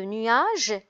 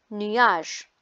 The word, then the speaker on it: nuage: Par contre, dans l'exemple de nuage, G se prononce J parce qu'il est placé devant la voyelle E.